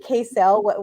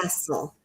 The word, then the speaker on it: CASEL: I've been saying CASEL. What is it really? How do you pronounce it? Castle.